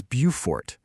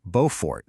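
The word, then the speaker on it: Beaufort: If you're in South Carolina, it's Bufort. But head up to North Carolina and they have their own viewfort which they pronounce Bowfort.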